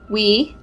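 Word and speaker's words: 위: So this next one is we. It's pronounced we.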